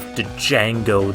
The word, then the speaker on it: Django: Oh, and there's a poster of Django, the Solar Boy. Yeah, I'm still pronouncing the D in his name.